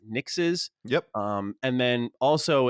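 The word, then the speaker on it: Nixxes: house mark uh they acquired i believe it's pronounced nix's yep um and then also it looks like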